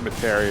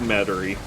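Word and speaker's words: Metairie: in okay let me is it metary no yes it is battery i'm so used to you intentionally mispronouncing that that i said no before you said it yeah i usually just call it materia to piss off um but yeah it's it's it's metary i know where that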